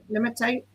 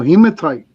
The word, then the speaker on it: hematite: Heatite. Oh, hematite. Hemma hematite. I always say that's a grinding stone. Yeah, hematite. Um, I like hematite.